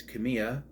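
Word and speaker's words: Kamiya: them there's Tai Kamya although sometimes it's pronounced Kamaya is he pronounced hey Mrs Kamaya it's Kamya at least that's how to pronounce It season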